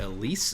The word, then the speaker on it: Elysse: siebel speaks interviewing uh also how do you pronounce your name elise elise okay that's what i've been saying in my